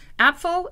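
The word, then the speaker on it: Apfel: apple house cidery or app full house cidery depending on how you want to pronounce it apfo is the german word for apple and house h-a-u-s is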